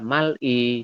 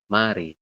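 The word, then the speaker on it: 말이: tulisannya adalah mal'i, tapi dibacanya mari.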